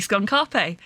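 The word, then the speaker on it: Skun-ka'pe: why I said uh I've been saying his name wrong on purpose because it is actually skun Carpe the the dev team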